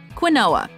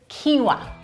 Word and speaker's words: quinoa: no cheek no cheek number one quinoa common mispronunciation quinella correct pronunciation quinoa but I am here to reassure you that the correct pronunciation is quinoa Quin OA well that has to be it